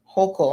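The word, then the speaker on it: Hochul: the governor who's uh governor kathy holcol i believe is how it's pronounced said that she was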